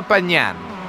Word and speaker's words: Pagnan: So, actually, I did actually get confirmation from an old teammate, actually, of Marcello's on how to pronounce his name. All right. Marcello Pagnan. Pagnan. Pagnan.